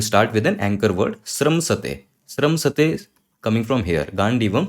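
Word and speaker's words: स्रंसते: Okay, before I go that, one important thing, this is pronounced as sramsate. Don't call it stransate, because a lot of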